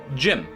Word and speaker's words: Jimb: And I'm like, "Jim." He's like, "No, no, your account name." I'm like, "Jim with a B. B is silent.